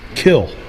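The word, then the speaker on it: kiln: area for this force pronounced kill and we all say kill him right so that in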